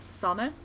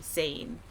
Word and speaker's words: Sana: i just know that my name uses a pronunciation that is very specific to dutch so it's hard for